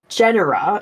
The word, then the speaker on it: genera: more detailed so there's several Genera is how you say like the plural of genus um of mosquitoes and